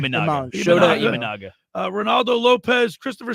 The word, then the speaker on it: Imanaga: National League: Max Fried, Hunter Green, Imagna. How do you say his name? Imanaga.